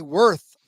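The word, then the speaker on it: Würth: As we always do, yes, it was the Worth 400, which, by the way, I pronounced it correctly. Thank you very much. Bratwurst. I figured I had to be at least 75-25 right on that one.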